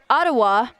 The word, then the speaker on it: Ottawa: Student at the University of British Columbia out of Ottawa, which is, as I have learned, the right pronunciation for the name of that place from our lovely co-commentator, Troy Weston.